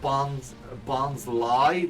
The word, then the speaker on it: Bonsly: his pre-evolution Bonsley is way more obvious in that regard. It really is. Yeah. Although I think it's supposed to be pronounced Bonsly, like it's supposed to be the word sly.